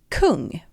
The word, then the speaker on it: kung: And in Swedish we pronounce it kung.